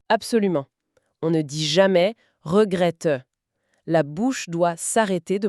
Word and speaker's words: regrette: En français, quand un mot se termine par un e sans accent, il est presque toujours silencieux.